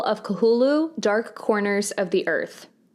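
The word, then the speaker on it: Cthulhu: cth U lhu according to Wikipedia it is pronounced kahulu similar to sanity's requium this game was also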